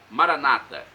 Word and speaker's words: Maranata: dizem nossos irmãos separados os evangélicos ou protestantes Maranata os católicos dizem maranat com a tônica na última sílaba não importa pronúncia o